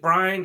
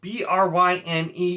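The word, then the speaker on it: Bryne: we have gareth bryant i have always pronounced it brian it is spelled b-r-y-n-e you can't tell me that's not brine but apparently it is bryn it's supposed to be bryn and i disagree uh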